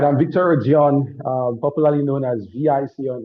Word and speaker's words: Odion: It is Odion, but they say Odion. Odion, Odion, different pronunciation.